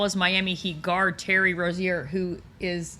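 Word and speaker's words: Rozier: And uh am I pronouncing his name wrong? Rosier. Rosier.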